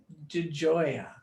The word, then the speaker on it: DeGioia: It's Italian and it's DeGioia, even though it's spelled DeGioia in English.